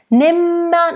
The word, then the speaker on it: nimmer: Nimmer, nice double M, and the E is open.